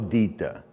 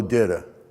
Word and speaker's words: Ditta: That's the correct Sicilian pronunciation. But if you're from Gretna, Louisiana, the West Bank, which is sort of like the Brooklyn of New Orleans, they would call Ditta. That would be how you would say it over there, Ditta.